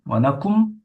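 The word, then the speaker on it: வணக்கம்: 근데 와나캄, 와나쿰, 뭐 와나캄 사람마다 조금씩 다른 것 같아요.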